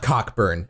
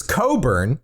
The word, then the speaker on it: Cockburn: It's not Cockburn, actually. It's Coburn. That's how that name is pronounced.